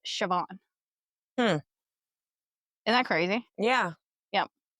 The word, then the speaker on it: Siobhan: Yeah, like Siobhan is typically spelled Siobhan, but it's pronounced Siobhan.